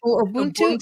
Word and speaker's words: Ubuntu: know you have a different word for it Ubuntu is that how you pronounce Ubuntu yeah so because I know you often say